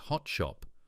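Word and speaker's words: Hot Shoppes: The KGB officer photographed meeting Vulov at the hot shopper pronounced hot shop was quietly recalled to Moscow.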